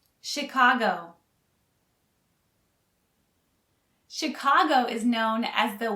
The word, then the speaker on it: Chicago: head mountain for chicago notice the ch is actually pronounced like an sh chicago chicago chicago chicago is known as